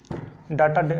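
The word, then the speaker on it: data: डाटा is called organise डाटा। डाटा वैसे देखिए मैं आपको बता देता हूँ, वो टंग पे है, डेटा में बार बार डाटा बोलता हूँ, लेकिन इसकी जो करेक्ट प्रोनाउंसिएशन है वो है आपकी डेटा।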